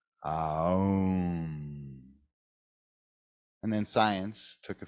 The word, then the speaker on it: Aum: It's actually 3 syllables. A, U, Om. Aum.